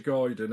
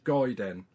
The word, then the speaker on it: Gaiden: having a g apparently it's not ninja Guiden it's ninja no it's not ninj gayen it's ninja guen I don't know what